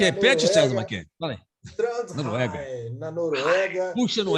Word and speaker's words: Trondheim: Ele mora em Trondheim, é assim que se pronuncia, né? Como é que repete, César Mackenzie? Fala aí. Trondheim, na Noruega.